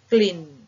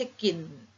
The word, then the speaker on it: กลิ่น: เสียง กระซิบ นะ คะ กระ ติ๊บ ไม่ ใช่ กะ นะ คะ กลิ่น ไม่ ใช่ กิน นะ คะ กริ่ง ไม่ ใช่ กิ่ง นะ คะ เพราะ ฉะนั้น เด็ก